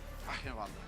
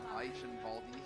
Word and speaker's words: Eichenwalde: Eichenwalde. But we already figured this out. It's Eichenwald. No, you just have to say it like you're sneezing. Eichenwalde.